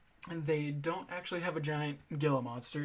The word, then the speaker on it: Gila: I watched the Giant Gila or Gia Monster. That Gia is how they say it. I've always said Gila myself.